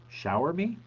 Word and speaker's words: Xiaomi: key boys know me the best way to pronounce that word is to think of show me and then pronounce the first word as if it were shower shower me wait what show me